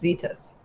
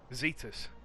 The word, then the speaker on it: Zetus: I think we've just been told it's pronounced Zetus. Zetus.